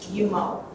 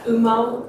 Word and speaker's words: Umo: our new electronic Fair payment system which is yumo that's how it's pronounced not uh UMO uh it's yo um so I'll just go